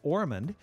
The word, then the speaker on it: Ormond: c v i n orand is just like Osmond only with an r instead of an S so it's o r